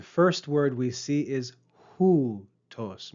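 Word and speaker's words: οὗτος: The first word we see is hoo tos. Make sure you pay attention to the breathing mark and the accent.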